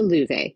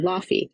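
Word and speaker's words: Laufey: Gold goes to Lu Vay, who until Lala I thought you pronounced her name Laughy.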